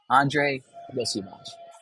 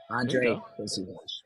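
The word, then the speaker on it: Andrei Iosivas: It is Andre Yosivas. It's close. It's very close. Okay. It's Yosivas. Yosivas. Andre Yosivas. Andre Yosivas. Yeah. You got it. So, So a lot of eyes on Andre Yosivas, who I can say,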